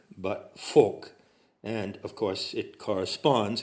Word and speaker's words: Volk: You notice that I'm coming a little closer to the correct German pronunciation because the V in that word is pronounced as an F. Not Volk, but Volk.